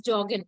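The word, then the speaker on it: joggen: it jargon sounds like the pronunciation of jargon is Jorgen no Jorgen and Jorgen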